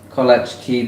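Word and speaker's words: kołaczki: the line Celiac Revelation says it's collage collage key pronounced pronounced with a long o and a long e so cool okay anyway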